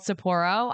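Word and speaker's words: Sapporo: And one of my favorites is called Saporro.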